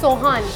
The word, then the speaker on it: sohan: say the name of this food again it's soan soan Sohan is a unique traditional Persian site